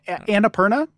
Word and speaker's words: Annapurna: so good so good and you know again anna pierna is that is that how you pronounce annapurna yeah annapurna they do they they like distribute films too